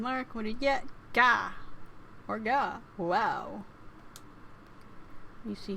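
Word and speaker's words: が: The G sound is always pronounced like a hard G. Don't be to pronounce it like a J.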